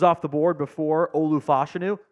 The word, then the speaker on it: Fashanu: the board before Olu fashanu or fashanu excuse me I realized we've been pronouncing his name wrong the whole time when he said it correctly himself at his combine uh fashanu goes number